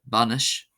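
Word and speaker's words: bainis: Ai after a consonant is pronounced as an a. So we have uh banish banish.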